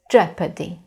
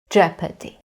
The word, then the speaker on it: jeopardy: And now, in this word, the letter O is silent. So the pronunciation of this word is jeopardy. Jeopardy.